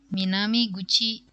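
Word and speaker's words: 南口: Ini dibacanya Minami Gucci.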